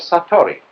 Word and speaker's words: satori: In Japanese, in Zen, it is called satori.